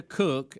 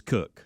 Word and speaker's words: Koch: Christina Cook and Jessica Meir. Even though it's spelled Koch or Coke, it is Cook.